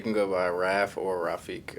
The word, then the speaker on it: Rafiq: You can go by Raf or Rafiq. A lot of people don't know how to say Rafiq, though. Did I just say it right? You said it correct.